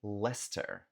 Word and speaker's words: Leicester: Próxima cidade, cidade Leicester.